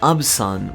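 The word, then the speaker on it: アブサン: an alcoholic beverage called "Abusan", which is the Japanese way to pronounce "Absinthe", a real life Swiss beverage of green tint.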